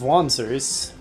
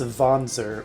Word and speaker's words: wanzer: So technically it should probably be pronounced wanzer with a V, but I probably won't be consistent about that at all.